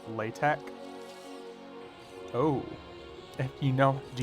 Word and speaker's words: LaTeX: how to use latex it is a thing but it's pronounced latek oh if you know do you know how to use latex oh uh and what